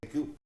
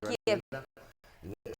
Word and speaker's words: Kyiv: Se dice Kyiv. Me han dicho hoy una amiga y no Kiev. Se dice Kyiv, se pronuncia Kyiv.